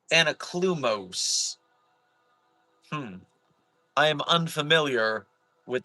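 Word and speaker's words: Anaklusmos: Sorry, and it's pronounced Anaklumoes.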